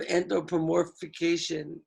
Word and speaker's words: anthropomorphization: sky, some sort of anthropomorphization. Yeah, you're saying it right. Anthropomorphization.